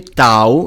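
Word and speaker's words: τ: Tau, excuse me, tau, it's not a heavy Tough t, in it is a slim t sound, as in T.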